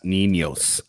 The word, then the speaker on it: Niños: Make sure you pronounce the S. Niños.